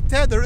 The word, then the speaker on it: tether: you pronounce it rightly tether it's not teter but it's tether i got comments yes